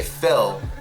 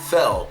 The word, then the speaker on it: Phil: was seeing who could say Phil Phil like an American cuz Russians say pH pH especially the girls so I was like